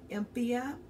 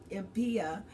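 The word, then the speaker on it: empyema: And there is something called empya or empya, and it's spelled E-M-P-Y-E-M-A.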